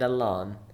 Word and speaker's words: alone: And the difference in pronunciation between along and alone.